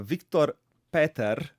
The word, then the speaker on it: Viktor Peter: interesting uh talk my guest today is uh Victor Peter did I say it right yes welcome Victor